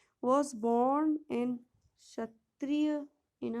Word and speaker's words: क्षत्रिय: क्षत्रिय बोलेंगे, के जो है साइलेंट है, ठीक है।